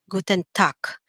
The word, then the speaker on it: Guten Tag: one here we have guten tak okay the g here at the end is pronounced like a letter k guten tak okay in the german